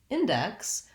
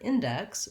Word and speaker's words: index: in depth and then when we look at index we have first syllable stress so the in part is actually stressed here as a word in is usually unstressed in a sentence but in the in this word index we have the in has to be